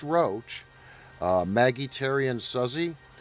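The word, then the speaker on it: Roche: It's pronounced Roach, uh, Maggie, Terry, and Suzy.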